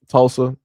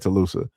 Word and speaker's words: Tulsa: section like, "Yo, S, this is actually how you pronounce, you know, uh uh what was it? Tulusa." Um Tulsa. Yeah, that's what it was. It was Tulsa, but I said I think I said Tuloosa.